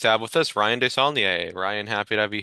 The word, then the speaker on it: Desaulnier: Yes, today we're pleased to have with us Ryan Desaulnier. Ryan, happy to have you here. How are you? I'm well, thanks. An excellent pronunciation of the name, by the way.